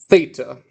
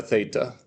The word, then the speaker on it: theta: Zeta, eta, theta. They all rhyme. We got zeta, eta, theta. Theta is a TH sound, just like in the name.